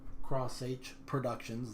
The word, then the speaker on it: xH Productions: So this is my new channel, Cross H Productions, that's how it's pronounced.